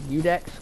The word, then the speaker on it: Iudex: to upgrade weapons I'm for you Dex good here and yes that is how you pronounce it shield does have a